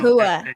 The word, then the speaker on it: Kahua: It's Ka, not Cha. It's Ka. Yeah, ka. Okay. Okay. Kahua.